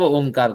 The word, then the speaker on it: ओम: की कोशिश हम करेंगे ओ यह थोड़ा 80 प्र उच्चारण करें मा को हल्के उच्चारण करें इस तरह 10 बार अब ओमकार का उच्चारण करते हैं मिलकर के ओ म भी सुनाई पड़ना चाहिए नहीं लंबा नहीं खींचना ओ ओ ओ